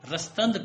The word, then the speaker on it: رستند: تو یہاں اگر رستند باندھا جاتا تو قافیے کی خلاف ورزی ہو جاتی، لہذا یہاں رستند پڑھا جائے گا.